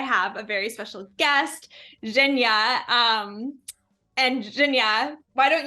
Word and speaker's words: Zhenya: oh thank you so much you are actually pronouncing it perfect so it's shenya the same as you just pronounce it perfect